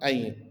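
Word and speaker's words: عين: And this one ayn, yeah. So it's plus yeah plus n. So how we will read this one? Ayn, ayn. Okay, pronounce this one as ayn.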